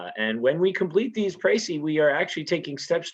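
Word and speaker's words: précis: go over the rhetorical pracy with you uh remember the pronunciation right uh the s is silent because it's a french word and when we complete these pricy we are actually taking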